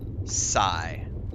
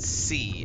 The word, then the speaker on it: Psi: See, I pronounce it Psi. They pronounce it C, and I don't know why, because it's based on psionic, and I don't know why they use C. It should be pronounced Psi.